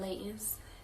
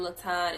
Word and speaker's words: Layton: I don't know a lot of Laytons, and they be spelled a little different too. Y'all be saying my name a little wrong too. Y'all be saying Latan and Latoya and all that. It's Layton.